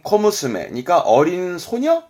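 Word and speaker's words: 小娘: 그러면 소낭 쓴 건 뭐냐면 발음은 코무스메.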